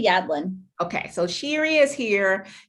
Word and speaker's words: Yadlin: last name again so i make sure i pronounce it correctly yeah sherry yadlin okay so sherry is here shari's with just